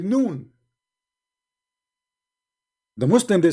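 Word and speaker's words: ن: You see, in Arabic, when we pronounce a letter by itself, we pronounce it as if it's a word, but it's not a word. It is a letter.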